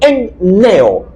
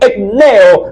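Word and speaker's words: ἐμπνέω: el idioma español como, dice aquí, enneo, E-M-P-N-E-O. De ahí la dificultad un poquito de la pronunciación.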